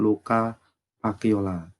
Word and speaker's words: Luca Pacioli: Penemu akuntansi itu adalah Bapak Luca Pacioli. Nah, tulisannya Lucas Pacioli tapi bacanya Luca Pacioli.